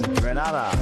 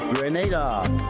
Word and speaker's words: Grenada: So today, like we Germans say, we are in Granada. But I heard in English it's called Grenada.